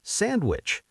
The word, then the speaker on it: sandwich: Same with sandwich.